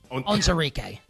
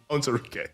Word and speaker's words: Onwuzurike: How do you pronounce his name, the defensive lineman? Levi Onwuzurike. Onwuzurike, yeah.